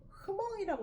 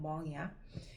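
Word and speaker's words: Hmong: 그러니까 이거를 가끔가다 내가 이거를 어 그 단어를 한국 기사에서 볼 때가 있는데 흑엉이라고 쓰는 애들이 있는데 흑엉이 아니고 그냥 멍이야. H 발음이 없어.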